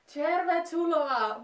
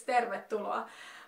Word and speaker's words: tervetuloa: to say it, like, most of the people who speak English as their native language are like, tervetuloa, but no, it's tervetuloa.